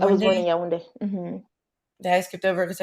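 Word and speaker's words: Yaoundé: It's not pronounced the way it's spelled either.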